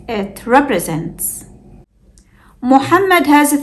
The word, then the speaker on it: Muhammad: The first syllable is mu. The second syllable is ham. This is where the second meme sound occurs. But it's hidden. It's not written, but we still pronounce it. And don't forget to hold the meme with sukoon briefly. The third syllable is med. The third meme sound has fatha. So when we put it together, it's Muhammad.